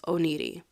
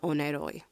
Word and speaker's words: Oneiroi: up a bunch of times and apparently it's pronounced oh needy not oneidoy so my favorite show right now is the